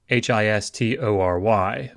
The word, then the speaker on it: history: So, for example, the English word history is History, but if you pronounce it, you don't really pronounce the O. You say history.